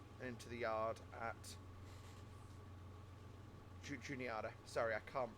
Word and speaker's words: Juniata: We actually drive through Altoona and into the yard at Juniata. Sorry, I can't pronounce the place. Every time I see Juni, I want to pronounce it Juan. Like Juanita Yard, which obviously isn't.